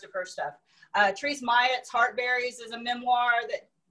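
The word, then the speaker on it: Mailhot: it's theresa maya um so rhymes with hyatt um her book was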